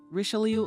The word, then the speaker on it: Richelieu: Besides, his surname should be pronounced differently. Richelieu Armand, Gilles Duplessis.